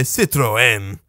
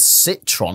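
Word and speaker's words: Citroën: they don't say it like Citron they say Citroen they don't call it Citron it's got an e in it Citron and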